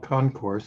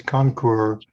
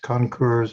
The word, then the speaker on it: concours: airplane okay and uh like i say it's concur it's french you see this pronounced concurs or concur and uh